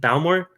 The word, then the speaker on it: Bowmore: I say Bowmore. Is it Bowmore? Bowmore. Bowmore. Okay, I'm putting the accent on the wrong part.